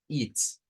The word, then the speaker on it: ist: Bueno, es y esto que lo vamos a pronunciar como it's.